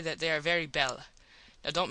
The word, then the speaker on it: belle: that they are very belle. Now dont mispronounce things and get sore till you know. You pronounce that like bell and push button.